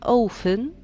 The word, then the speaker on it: often: There are often flowers on the dolls' aprons. When you listen to the word often, you can't hear the letter T. We say often.